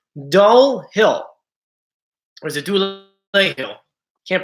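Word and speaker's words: Dulé Hill: Dule Hill.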